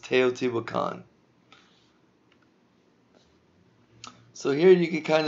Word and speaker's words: Teotihuacan: and at the very end here this is pronounced Teotihuacan so here you can kind of see the